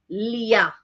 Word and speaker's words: Lear: with amelia because of the way of the pronunciation because it's uh leah so if you say leah you know you don't say uh even when you say king lear that you don't you don't pronounce the art